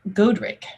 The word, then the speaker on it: Godric: battle of malden named godric g-o-d-r-i-c goad the god is goad and ric is rich gold rich code rich okay you're starting to